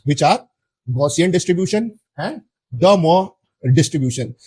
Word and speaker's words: De Moivre: are Gaussian distribution and De Moivre distribution. Now I have pronounced this name as this because this is He is a He was a French mathematician.